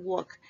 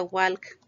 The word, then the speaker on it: walk: van a cambiar estos verbos friday's shopping and work recuerden que la palabra caminar no se no se pronuncia walk es work sin la ele así bien ahora